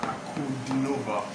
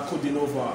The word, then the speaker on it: Ankudinova: Can you pronounce the last name, please? This is Diana Ankudinova. Yeah, this is Diana Ankudinova.